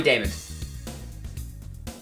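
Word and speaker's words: Daymond: it up right now i always feel like i'm pronouncing it wrong because you are damon robbie damon david thank you uh but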